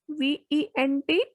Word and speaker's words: vent: First example is VENT, vent, means wind, vent.